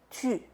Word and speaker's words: tu: Acuérdate, el tu es importante hacer la pronunciación u, tu. Tu t'appelles comment? No, tú t'appelles comment? No, tu, ¿ok?